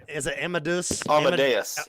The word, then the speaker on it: Amadeus: ever say it right is it Emma Deuce Amadeus Amadeus yes brought me Emma Davis yes Falco's rocking